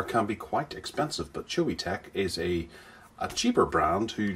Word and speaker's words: Choetech: a QR code for getting free stuff from chewy tech that's how you pronounce it we have an instruction manual for